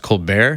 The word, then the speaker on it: ColBERT: according to their website it's supposed to be pronounced cold bear which is the name of some comedian on tv in the u.s so i'm not sure